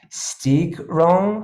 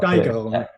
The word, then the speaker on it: Steigerung: And the word is Steigerung. I'm not sure how to pronounce it. Steigerung.